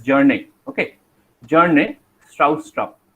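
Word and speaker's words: Bjarne: Okay, this B pronunciation cannot be is not there. So you are going to pronounce his first name as Jarne.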